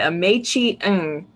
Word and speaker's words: Meichi Ng: I had to look it up, but Meichi Ng.